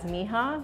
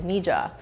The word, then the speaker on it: Mija: welcome to mija books there's actually two pronunciations for our bookstore one Spanish speakers will see it as Miha which is the colloquial word for my daughter in Spanish it has a much deeper meaning for us because it's actually the first two initials of our daughter's first and middle name Mirea Jamila so another pronunciation is Nija who are you yeah